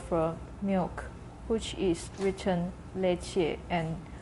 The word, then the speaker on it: leche: The letter E, such as the Spanish word for milk, which is written leche and pronounced.